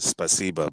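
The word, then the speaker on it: спасибо: like specific space yeah so you pronounce it spasiba but when you look at it it's when you actually read it in letters it's actually spasibo so um kind of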